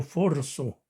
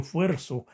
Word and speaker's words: fuerzo: Decimos muchas veces, yo forzo. Nos sentimos ridiculizados al decir, yo fuerzo. Pero así es la palabra, yo fuerzo.